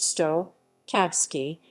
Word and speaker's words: štokavski: cyrillic s h dikavsky pronounced stoh kavsky is the prestige dialect